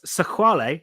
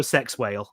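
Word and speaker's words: Sexwale: the my favorite bit about it is that sequale is how he's pronounced but he's actually if you read his name in English it's Tokyo sex whale that sounds like the headline for one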